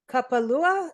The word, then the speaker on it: Kapalua: But this coastal trail, Kapalua, am I saying it right? Kapalua.